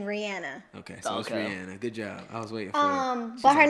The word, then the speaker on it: Rihanna: look at you Betsy is it Rihanna or Rihanna when I'm certain say her name she says her name Rihanna okay good job her